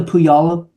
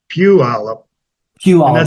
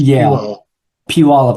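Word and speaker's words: Puyallup: and is is is it is that the pyala river it is right well well that's that's the spelling but it's it's pronounced backwards it's Pew PE thank you very much that's a lot of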